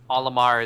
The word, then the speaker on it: Olimar: Because, like, Japanfully, phonetically, Olimar is supposed to be Mario backwards, but then the R turns into an L.